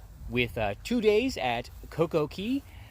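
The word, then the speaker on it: CocoCay: uh two days at coco key or coco k that's how they say it a day in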